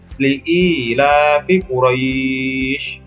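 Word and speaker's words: لإيلاف قريش: Nah, ini ada di atas ro ada fathah, kemudian bertemu dengan ya sukun, dan di akhirnya ada huruf hidup dibaca wakof. Maka membacanya li'ilafi Quraisy.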